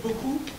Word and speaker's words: beaucoup: Je dis bien prononcer, c'est-à-dire que dans le mot beaucoup, on ne prononce pas le P, le mot beaucoup, ça passe.